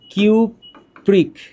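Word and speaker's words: cupric: এখানে বলতে হবে কিউপ্রাস, নামটা হচ্ছে কিউপ্রাস, আর এইখানে নামটা হচ্ছে কিউপ্রিক। কিউপ্রিক। তাহলে নামের শেষে উচ্চারণটা হচ্ছে আস।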